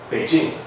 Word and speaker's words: Beijing: blog before okay so the question is Beijing or ping and some people even say yeah yeah yeah you can spell it pcking but this is a romanization system so you really supposed to say Beijing even though it's spelled ping you say Beijing right so I looked